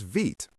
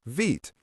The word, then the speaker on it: Vite: Today, the officially recommended tool for starting a new react project is vit pronounced vit.